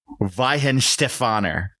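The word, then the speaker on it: Weihenstephaner: I hope I pronounced this correctly. All right. Ven Stefaner.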